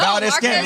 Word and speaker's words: Valdez-Scantling: And if they can have wide receivers like Valdez-Scantling, did I say that right? Did I mess up? Yeah, no, Valdez-Scantling.